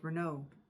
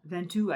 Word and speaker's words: Ventoux: Augustine, accompanied him everywhere, even on the adventure when he and his brother climbed Mount Verneau, or rather Mount Ventoux, I think, is how it's pronounced there.